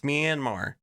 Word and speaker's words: Myanmar: they can't even like can you at least say it right it's myanmar investigation and at the